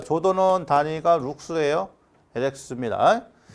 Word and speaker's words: 룩스: 자, 조도는 단위가 룩스예요.